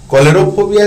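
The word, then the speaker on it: cholerophobia: से रिलेटेड है ना कोलोरो फोबिया spelling C एच ओ एल ई आर ओ पी एच ओ बी आई ए य सी से च न पढ़ के क पढ़ेंगे फियर ऑफ कोलेरा है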